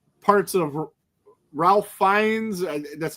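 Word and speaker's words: Ralph Fiennes: had like parts of Ralph Fines. That's how you say his name. It's it's it's spelled Ralph, but it's something else.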